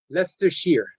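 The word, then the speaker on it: Leicester: Becca says, "All my lovely Becca says, um, Lester, Lester. Okay. Why is that so simple and then it's spelled like that?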